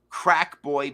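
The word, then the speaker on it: Craicboy: his name I think I think it's supposed to be crackboy mental I believe that's what it's supposed to be but it's okay it's spelled c-r-a-i-c okay boy okay now this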